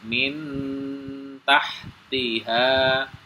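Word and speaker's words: مِنْ تَحْتِهَا: sukun ketemu dengan ta cara membacanya min ya jadi nunnya ini disamarkan ya ke huruf ta min ya jadi ujung lidah kita sudah nempel di bibir ya min tahtiha min tahtiha ya jadi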